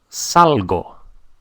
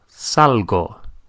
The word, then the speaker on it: salgo: is sal sal but I go out is salgo salgo s a l g o Salo so so